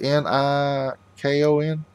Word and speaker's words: Nikon: I think it's N-I-K-O-N, Nikon. I think that's how you pronounce it.